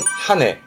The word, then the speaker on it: 羽: 그래서 발음은 하네.